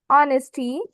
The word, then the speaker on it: honesty: As you can see in the word starts with the letter H, but the letter H is silent when we speak this word.